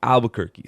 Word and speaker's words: Albuquerque: Albuquerque, spelled like the city in New Mexico, ALBUQUERQUE.